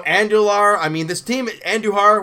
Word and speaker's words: Andujar: I mean this team Andujar when he pronounced his name I think I knew her I mean it's the